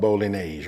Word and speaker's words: Bolognese: And look, I know the food police gonna come after me for me calling it spaghetti sauce, but listen, the correct pronunciation is called Bolognese, right?